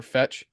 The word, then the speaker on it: FET: and ocean and um fet or fetch or how do you pronounce that one it's fetch AI the token is fet yeah and then if